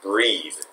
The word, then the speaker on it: breathe: 명사로 쓸 때는 breath. 따라해보세요. breath. breath. breath. breath. 아래 동사로 쓸 때는 breathe. breathe. breathe.